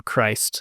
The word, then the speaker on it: Crist: This is Christian comedian and content creator John Chris. I hope I'm pronouncing that right. There's no other way to pronounce that other than Christ. And that would be weird.